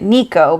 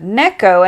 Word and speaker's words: Neko: was pronouncing it incorrectly I was calling it Nico because that's I don't know just a more English way to say things but then we heard the correct pronunciation of Neko and I was like